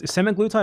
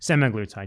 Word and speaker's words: semaglutide: six months because he took um semi what's semiglutide or semiglutide? Hold on. Is it I have to say it correctly. He took the semiglutide medication like these injections. Semaglutide.